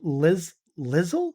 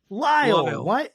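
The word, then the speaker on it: Lisle: He's currently a professor of New Testament at Northern Seminary in, I'm going to say this wrong, Lizzle? How do you say that? Lyle.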